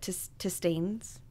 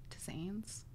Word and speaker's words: tisanes: to drink one of his, what is it, tistanes? How do you say that? Yeah. You're the hippie. Where's the word? Tisanes.